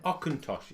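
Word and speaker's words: Auchentoshan: Aucintosh, it's pronounced.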